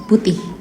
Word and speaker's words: putih: Indonesians, you have to kind of like pronounce the H at the end. Putih.